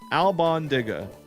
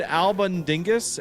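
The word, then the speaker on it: albóndigas: Albandigas. Alban. Albondigga. I I said Albaningus and that was wrong.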